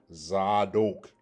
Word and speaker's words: Zadok: You have a dot over the dalet, which lets you know that D sound is going to have a O vowel. So you got Zadok, dok, dok. All right, Zadok. And that's what you have